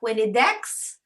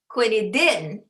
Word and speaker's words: quinidine: Quinidine, quinidine. Good job, okay? Pronounced as you would read it, okay?